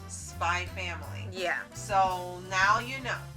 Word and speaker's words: Spy x Family: the manga, says that it's stylized as Spy X Family, but it's pronounced Spy Family.